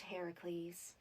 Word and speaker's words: Heracles: Well, in the original tale, I met Heracles. Heracles. Hudes. Heracles. Why are you saying it's so weird? I thought it was Hercules. Well, actually, in most translations of the story, it's pronounced Heracles.